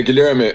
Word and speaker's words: Guilherme: me let me see is it GMA yeah Gilma actually Gilma is the it's the Portuguese version